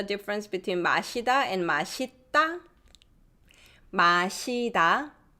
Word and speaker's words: 마시다: 마시다, 마시다, it's pronounced just like it's written.